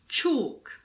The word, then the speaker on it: chalk: With L, you just need to learn the exceptions. Some of the most common ones are calf, half, chalk, talk, walk, balm, calm, palm.